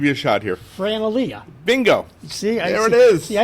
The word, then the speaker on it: Elia: It is Elia, very good. But I've heard different pronunciations over my lifetime.